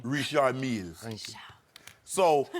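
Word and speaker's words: Richard Mille: So how hard must pronounce it correctly. Richard Mills.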